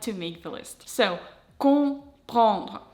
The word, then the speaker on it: comprendre: So, comprendre. The first nasal sound is nasal O. You will pronounce it when you see O-N, O-M.